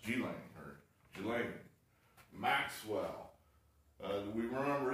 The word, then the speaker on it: Ghislaine: all true okay now one other thing here g-lane maxwell apparently that's how it's pronounced g-lane or maxwell uh we remember this person this